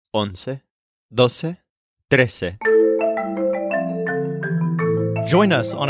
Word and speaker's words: once: This is spelled O-N-C-E. It's kind of like saying one with a se at the end.